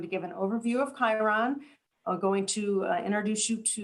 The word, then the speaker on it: Chiron: It's Chiron, and it is almost always mispronounced.